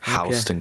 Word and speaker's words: Houston: That's how they pronounce it down here. Hston County.